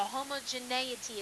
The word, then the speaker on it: homogeneity: of homogeneity and so that's accented right they around the BI so homogeneity is how you say that and we know homogeneous